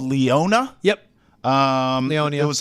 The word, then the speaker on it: Leonia: I stopped in a town called Leona. Yep. Leonia. It was like Leonia.